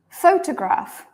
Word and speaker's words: photograph: okay good yeah correct we say photograph pH photograph everybody try clapping with me so you can hear by the claps that this first syllable is very long the second the second two syllables are much shorter so photograph photograph photograph